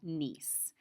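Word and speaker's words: gneiss: is what we call nce it actually has a silent G in the front nonfoliated contain minerals that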